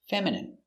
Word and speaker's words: feminine: F E F M fem I feminine M fe feminine I feminine feminine m feminine feminine feminine stress on the first syllable feminine feminine your dog will look feminine if you put a pink bow on Let's practice.